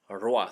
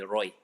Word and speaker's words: roi: So this is moi, toi, joie, loa, roa. So when you have ROI, ROI is not a Roy, it's El Roa. It's Roa, Roa, okay?